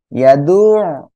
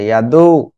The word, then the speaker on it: يدعو: فذلك الذي يدعو اليتيم মানে আপনার জাস্ট এমন হচ্ছে ইয়াদু, কিন্তু আইনটা ওই যে আইনে একটা বাঁক আছে, একটা মানে এক কথায় উচ্চারণে গলাটা চেপে উচ্চারণ করতে হয়, এটা হচ্ছে يدعو ইয়াদুল।